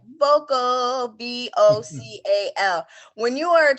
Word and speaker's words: Voelkel: get it wrong so i said it's pronounced vocal like a vocal arrangement or you know vocal chords you know so and